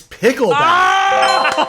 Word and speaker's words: Pickleback: So this shot it rhymes with the name of a band. Most people don't care for them band, but they're pretty famous. Nickelback. Is it Pickleback? It's Pickleback.